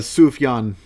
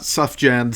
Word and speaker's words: Sufjan: Uh Sufyan, it's not Suffan Stevens.